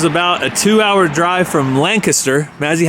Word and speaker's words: Lancaster: So, it's spelled like Castor, but you say it like Kester.